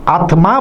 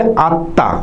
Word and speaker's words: আত্মা: জন্ম, আত্মা, অনেকে আত্মা বলেন কিন্তু তোমরা বলবে আত্মা। আত্মা হচ্ছে শুদ্ধ উচ্চারণ।